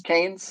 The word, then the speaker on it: Keynes: Now, it did say that Ken, I don't even know how to pronounce his last, Keynesian. Keynes, John Maynard Keynes. His last name is Keynes.